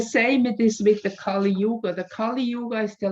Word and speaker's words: Kali Yuga: golden age yes well the kali you this is like you pronounce it a bit different it's from the hindu tradition it's called kali yuga and the kali yuga